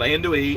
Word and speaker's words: andouille: up an onion, and cut you up some andouille sausage. I guess that's how you pronounce it. It's a Cajun-style French sausage. It looks like the kielbasa, you know, the horseshoe-shaped sausages, but it's called andouille, A-N-D-O-U-I-L-L-E.